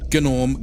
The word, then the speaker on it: Gnome: That's how he pronounced himself, not Norm the Gnome. Gnome the Gnome, and he